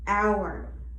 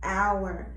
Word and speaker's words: hour: Sometimes H is silent in the beginning of the word, hour. As you can see, hour, you don't hear the H.